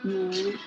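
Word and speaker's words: 五: It is pronounced as wu.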